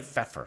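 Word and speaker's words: Pfeffer: guy actually pronounced Feer the p is silent but think of Dr Pepper what like fish yes pH when you actually there's no eight there's it's it's not like it's like feffer yes like yeah when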